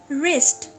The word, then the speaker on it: wrist: रिस्ट, इसमें W silent है, R WRIST रिस्ट पढ़ा जाएगा, लेकिन लिखा WRIST ही जाएगा।